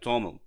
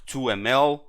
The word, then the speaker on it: TOML: file is written in the toml format it's pronounced like toml so if we don't know how to pronounce they give us a hint here I pronounce many times wrong like 2 ml but important is to understand what manifest is